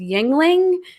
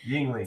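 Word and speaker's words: Yuengling: I don't know how to pronounce it. It's Yingling. Yingling.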